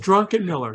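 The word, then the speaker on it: Druckenmiller: No, that's the way it's pronounced. Drunken Miller. That's Drunken Miller.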